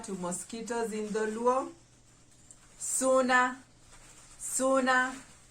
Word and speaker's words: suna: mosquitoes in the luau suna suna how do we spell it s-u-a-n-s u a s u n a s u n a suna suna suna refers to mosquitoes number 16 b b